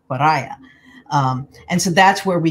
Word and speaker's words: pariah: took the term and they mispronounced it put the accent in the wrong place and came up with pariah and so that's where